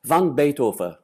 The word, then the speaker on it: van Beethoven: Ama Van Beethoven demek de bana ters. Yıllarca Van Beethoven dedikten sonra şimdi aslında, ama Flamanca okunuş öyle. Van Beethoven.